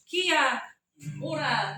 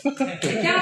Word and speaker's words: Kia ora: Kia ora has several meanings. It just depends on how you say it. Kia ora can be used to say hello.